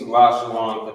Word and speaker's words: Lashawan: Instead of saying Lashawana, it would just be Lashawan, but because of the connector that's here on the bottom.